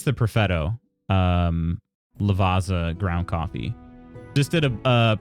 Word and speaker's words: Lavazza: Lavazza?